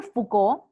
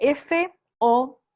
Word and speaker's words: Foucault: Bueno, primero Foucault, que lo siguieron mucho, además cuando estudien las biografías de ellos van a saber en qué terminaron.